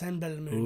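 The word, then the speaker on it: Simbelmynë: Belo Simbelmin. It's pronounced Senbelmoon.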